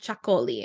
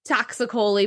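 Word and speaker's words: Txakoli: It's T-X-A-K-O-L-I, and it's pronounced Chacoli, I believe. I'm probably not saying it perfectly, but you get the idea. And if you say that, most people will know what you're talking about. Honestly, I've called it Taxicoli before, and people knew what I was saying. So don't worry too much on the pronunciation. So those are some of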